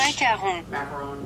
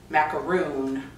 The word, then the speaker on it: macaron: It's the French macaron, not a macaroon, like the clumpy ball of coconut, shredded coconut and egg white.